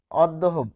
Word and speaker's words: অদ্য: আর এইযে দ যে দুইবার আসলো এটির কারণ হচ্ছে জফলা। জফলা যার সাথেই বসবে তাকে দুইবার নিয়ে আসতে হবে। ফলে অদ্য। উচ্চারণটা কি? অদ্ব হবে।